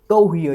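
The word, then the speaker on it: cohere: जो साउंड निकलती है, इस ह वाली साउंड के ऊपर अपने को स्ट्रेस देना है।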